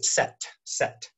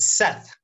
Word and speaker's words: Seth: a russian country and russian and kazak both don't have the th sound my name gets mispronounced all the time so i totally understand i'm always set set but seth for those of you who can pronounce the th okay what blank nice